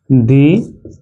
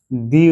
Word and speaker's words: the: আর যদি কোন শব্দের শুরুতেই কনসোনেন্ট থাকে তাহলে তার আগে যদি টি এইচই শব্দটি থাকে তাহলে সেখানে ড উচ্চারণ হবে। দেখে নেওয়া যাক। এই যে কনসোনান্ট আছে ঠিক আছে এই কনসোনান্ট এর আগে আগে যদি এই শব্দটি থাকে টি এইচই তাহলে বসলে কি উচ্চারণ হবে দ উচ্চারণ হবে দ উচ্চারণ হবে উচ্চারণ হবে।